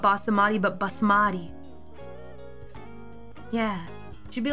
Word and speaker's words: basmati: You added a syllable to basamati. Oh, is it basmati?